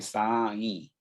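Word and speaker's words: साईं: ये नहीं कि तुम सकल लोकपति साई, साई नहीं है, साई, ते तुम सकल लोकपति साई।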